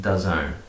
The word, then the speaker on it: DAZN: That's how it's spelled, DAZN, or how it's pronounced, spelled like D-Z-N-E or something, pronounced DAZN.